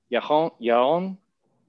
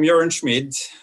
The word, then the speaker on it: Yaron Schmid: Yaron Schmid. Yeah. All right. I think like a B minus maybe on the pronunciation.